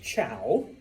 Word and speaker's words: Zhou: Remember, even though it's spelled Z-H-O-U, it's pronounced Chow.